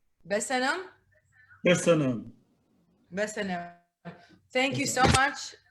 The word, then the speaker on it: Köszönöm: Köszönöm. Besenem? Köszönöm.